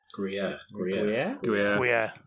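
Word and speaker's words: Gruyère: Is it a Gruyere? Gruyere. That's how it's pronounced.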